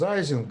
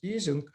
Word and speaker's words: Ising: Well, Americans pronounce Ising. In fact, since he was German, the right pronunciation is his name is Ising, and he was the